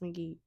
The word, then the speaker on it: McGee: Let me be polite. McGee. It is pronounced McGee.